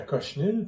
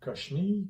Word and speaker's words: cochenille: Il y a de la cochenille, par exemple, la cochenille, coquenille, Cochenille. cochenille. Il me semble que ça se prononce Ouais. cochenille.